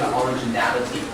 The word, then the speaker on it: originality: t white not original the stress is on n a so it's origin reality remember once again originality yeah thank you and